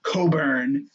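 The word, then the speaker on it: Cockburn: He was getting owned by Coburn. That's how they say his name. It's not how it's spelled, but that's how they say it.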